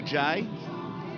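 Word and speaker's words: Jai: Jay in the fact despite his name is spelled j AI it is actually J we went with J earlier in the year so the family will be delighted we've got your little baby boy's name right and here he is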